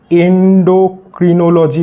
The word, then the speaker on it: endocrinology: হয় সেই স্ট্রিমকে আমরা এন্ডোক্রিনোলজি বলে থাকি। এন্ডোক্রিনোলজি, ঠিক আছে। অনেকে এন্ডোক্রিনোলজিও বলে, অনেকে এন্ডোক্রাইনোলজিও বলে, দুটোর উচ্চারণই কিন্তু সমানভাবে ঠিক, ঠিক আছে।